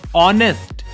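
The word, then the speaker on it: honest: ऑनेस्ट, ये जो ऑनेस्ट शब्द है ये स्वर है, ऑनेस्ट, ऑनेस्ट, क्योंकि यहां पे एच जो है वो साइलेंट हो गया है और वर्ड शुरू हुआ ऑनेस्ट ओ से।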